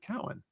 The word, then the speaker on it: Cowan: And then in the green room before my first show with Dennis, I said, "Is your last name pronounced Cohen or Cowan?" And he said Cowan.